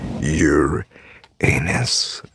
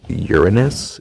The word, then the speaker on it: Uranus: I'm on your anus. No, it's pronounced Uranus, if you're a nerd.